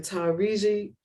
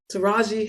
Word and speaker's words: Taraji: their slides real quick um Ava Duvernay and tyreeji how do you say her name Taraji Henson I want to say her name right